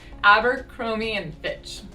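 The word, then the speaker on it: Abercrombie & Fitch: pronounce abercromy and and same thing where we reduce it abercromy and fitch true story i used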